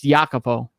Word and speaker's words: Jacopo: It's Jacopo. Jacopo. I'm sorry. Yeah. So it's not Kazi's. Or yeah, I would assume it's Jacopo because that's how you say that name usually.